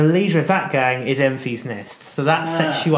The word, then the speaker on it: Enfys: said, to understand who Enfys Nest is, that's pronounced Enfys, by the way.